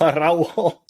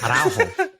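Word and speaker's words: Araújo: Like, for people out there, you roll your R's when there are two R's together. Like carro, ferrocarril, Or if you're just Araujo.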